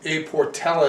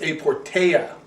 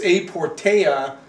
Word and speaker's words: A Portela: I called this A Portela, it's A Portea. They do not pronounce the L.